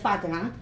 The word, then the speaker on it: Fatima: known as Moe and myself as Fatima instead of Fatima which is the correct pronunciation of my name and so I think